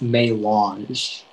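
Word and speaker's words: mélange: uh your word is may launch may launch may i have all the information yeah so it can be pronounced may launch or may launch it's a noun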